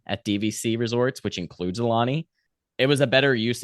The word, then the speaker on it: Aulani: were you guys and I'm saying it right Alani right yeah okay how many nights were you guys at Alani we were there for four nights we did